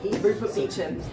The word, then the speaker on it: Beecham: There's a bit in the book where Rupert Beecham, so that's pronounced the kind of the actual way. Rupert Beecham.